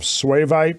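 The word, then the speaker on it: suevite: So what did you find for the definition of swavite? It's spelled S-U-E-V-I-T-E.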